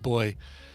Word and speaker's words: buoy: By the way, apparently that is a UK thing. So Zoe confirmed that it's pronounced boy in the UK.